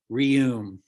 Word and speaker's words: Reum: Please welcome to the Zoom stage, Lori Reum, rhymes with museum.